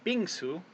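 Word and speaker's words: 빙수: And then this one is b, and this little eye-looking character is e. And then this can is often the ng sound, and then this sound is s or sa, is how it would be pronounced maybe in the Korean alphabet. And then this last character with the flat bar and this vertical bar coming down is u. So this would be bingsu.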